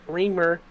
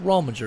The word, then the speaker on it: Rominger: then you got a sorry if I pronounce it wrong Mike reamer uh in 12th uh right Mike rominger that's what his name is and don't feel bad